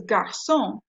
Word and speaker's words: garçon: So because the word boy is garçon, we've got to have the CD.